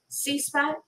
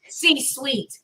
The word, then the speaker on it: C-suite: Am I saying it right? The C-spot? C-suite? C-suite.